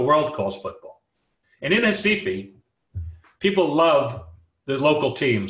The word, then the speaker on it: Recife: In the town in the red box there, pronounced in Portuguese, Recife.